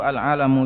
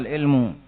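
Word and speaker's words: عَلَمٌ: Bacanya itu alamu. Jangan dibaca alilmu.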